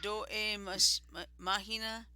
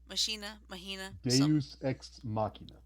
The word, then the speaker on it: Deus Ex Machina: Do e Machina. Deus Ex Machina.